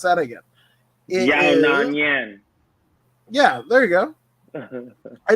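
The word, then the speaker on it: Yan Xiaonan: Let me pronounce that again. Yona Nyan.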